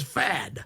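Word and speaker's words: Pfadt: And both the both the P and the T are silent, so it's fad.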